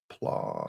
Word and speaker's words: Plaud: Did I spell it PALUD? Plod.